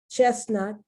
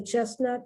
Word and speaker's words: chestnut: there as a hint chestnut now that the last t is pronounced but not the middle t chest but chest without